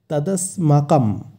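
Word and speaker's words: তদস্মাকম্: এর উচ্চারণটা আমাদের একটু লক্ষ্য করতে হবে। এখানে আছে দন্ত স, তাই স এর উচ্চারণটা হবে স, স কিন্তু নয়, স। তদস্মাকম, এবং শেষে যেহেতু অনক্ষর আছে তাই অনক্ষরের জায়গায় ময়ের উচ্চারণ হবে।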